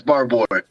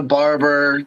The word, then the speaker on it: Barbour: No, he's saying it right. It's Barbour. Okay. Yeah. No. I'm like the only person in the world that says it right. But I'm used to Barber, the Barbarian, whatever.